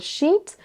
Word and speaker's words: sheet: Donc attention, quand on a deux E, c'est vraiment un I long. Sheet, sheet.